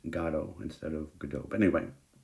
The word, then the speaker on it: Godot: Godot is usually the way that Americans say this word that's supposed to be a French name, but in England and in France, often they say waiting for Godot.